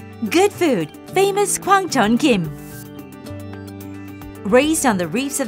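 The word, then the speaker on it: 김: I am Kim from Go Korea Laver pronounced Kim and Korean is rich in vitamins and minerals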